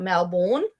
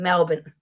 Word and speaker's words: Melbourne: It is not Melbourne as people like to say. Yes, it's M L B O U R N E, but it's not pronounced Bourne. We pronounce it as Bin. Melbourne.